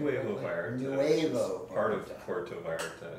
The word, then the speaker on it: Nuevo Vallarta: So I'm actually at his clinic, which is in Novo Vallarta. Is that my pronunciation? Nuevo Vallarta.